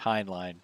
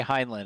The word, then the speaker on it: Heinlein: novel I think it's I think I'm mispronouncing I think it's Heinlein Robert Heinlein I always say heineland and I don't think that's that's correct now if I had